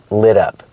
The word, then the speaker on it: lit up: And the description, the adjective, is lit up. We hear the pronunciation of the T in lit up. It sounds like a fast D. Lit up. Da-da-da, lit up.